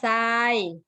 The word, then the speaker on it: ทราย: ด้วย นะ คะ ว่า โทร ควบ ร้อน นะ คะ จะ เปลี่ยน เสียง เป็น เสียง ซอ นะ คะ เด็ก จำ